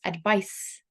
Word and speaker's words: advice: v i s e do not confuse it with the noun which is 'advice' a d v i c e so there's a difference in pronunciation and there's a difference in spelling so 'to advise' means